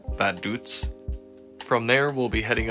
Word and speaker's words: Vaduz: capital called it looks like V but it's pronounced badut from there we'll be heading up to trenburg